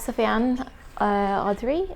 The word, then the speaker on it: Sofian Audrey: Next up, we have Sofian Audrey. Is that the correct pronunciation?